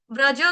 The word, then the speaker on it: व्रजः: जयति ते जनना ब्रज ब्रज के आगे है विसर्ग। विसर्ग का उच्चारण करेंगे आधे श। शरबत वाले आधे श के साथ। क्यों? क्योंकि आगे आपका आ रहा है श से शुरू होने वाला शब्द यानी कि श्रयत।